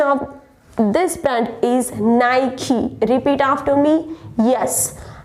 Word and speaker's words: Nike: It's a well-known company for shoes and all, and the correct pronunciation of this brand is Nike. Repeat after me. Yes, Nike.